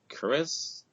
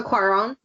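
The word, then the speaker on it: Cuarón: director of gravity um Alonso chis I think I'm pronouncing that wrong Alonso Quon that's thank you Kim um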